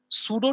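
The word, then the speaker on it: pseudo: है नाउ see next he सॉ द सूडो teacher यहां पर पी साइलेंट होता है ठीक है नेक्स्ट ही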